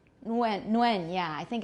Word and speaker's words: Nguyen: We can't start a word with ng. So for me, it would be Nguyen. But people do say Nguyen, you're right, because they can't pronounce an ng at the beginning of a word in theory.